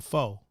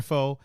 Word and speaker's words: pho: I was spending $30 on pho. Americans say pho, but it's actually pho.